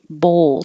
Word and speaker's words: bowl: one 37 is bowl bowl so round your lips and as you're saying o put your tongue in the l position bowl if you misspell it